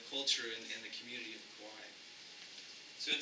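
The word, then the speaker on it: Kauaʻi: and the community of Kauai. So it says that the last king of Kauai, Kaua'i, excuse me for my Hawaiian pronunciation, was born near the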